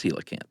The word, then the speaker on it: coelacanth: And B, it's spelled uh c o e l a, c a n t h, which is uh you know, not how you would think it might be spelled.